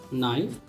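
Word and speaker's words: knife: अब आगे देखते हैं, यदि के साइलेंट हो, अक्सर होता क्या है, के बाद यदि एन है तो के अक्सर साइलेंट होता है। जैसे इसे नी, न्यू, नॉक, नाइफ।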